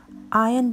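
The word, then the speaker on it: iron: लगाउनुहोस् आयन the clothes यसमा are silent हुने हुनाले यसलाई उच्चारण गर्दा आयन द क्लोथ्स भनिन्छ म अगाडिको बरामदामा कुचो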